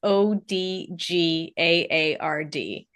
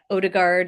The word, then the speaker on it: Odgaard: My maiden name is Odgaard, which is Danish, and it's Odgaard. Mm. And so I was constantly spelling it and didn't matter. Nobody could pronounce it. Nobody could say Odgaard. I got Odegaard and Odlard, which makes no sense